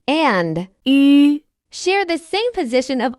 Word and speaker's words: 吁: When pronouncing, 一、 the lips are relaxed. When pronouncing, 吁、 the lips must be rounded.